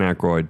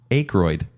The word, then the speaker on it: Aykroyd: Dan Aykroyd, Bassomatic.